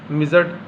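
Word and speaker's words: midget: मिजट D silent है।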